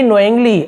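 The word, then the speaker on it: knowingly: अब के यहाँ पे साइलेंट होता है, के को हमें नहीं पढ़ना है, लेकिन लिखते जरूर हैं, लेकिन हमें केवल इतने को ही पढ़ना होता है। के एक साथ होता है, जैसे नॉक हो गया, नी हो गया, वहाँ पे क्या होता है, नो हो गया, वहाँ पे के साइलेंट होता है।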